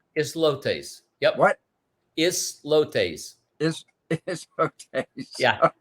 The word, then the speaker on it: Islotes: And Panama also, I can't even pronounce Grand it. Los Azotes. Islotes. Yep. What? Islotes. Islotes.